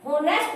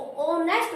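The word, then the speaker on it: honest: अब ये देखिए, होनेस्ट नहीं बोलेंगे, हम इसको ओनेस्ट बोलेंगे, ओ की आवाज आएगी, ओनेस्ट।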